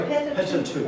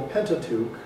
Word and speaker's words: Pentateuch: How do you pronounce this word? Pentateuch. Pentateuch. Sorry, Pentateuch.